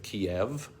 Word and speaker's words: Kiev: And so while I have never been to either one of those countries, I'm well aware of the old spelling and pronunciation of Kiev, the capital of Ukraine, which, if you don't know, was the Russian spelling.